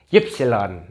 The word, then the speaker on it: Ypsilon: Kalau kita bacanya Y, kalau di Jerman bacanya Ypsilon.